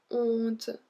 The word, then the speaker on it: honte: So here we don't pronounce the H. Avoir honte de.